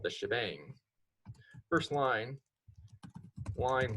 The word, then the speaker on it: shebang: The very first line of this file up here, right here, this is called the shebang.